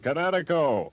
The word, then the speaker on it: Kinetico: Oh, East Coast son, little you should have remembered kinetic as in kinetic energy with an O on the end. Kinetico.